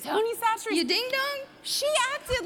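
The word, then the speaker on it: Tony Chachere's: in this stuff that I used to call Tony Cacciatore's until I was in the car with Loreal yesterday. How do you say it? Tony Satcheries. Tony Satcheries.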